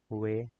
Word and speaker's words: We: W is pronounced as Way.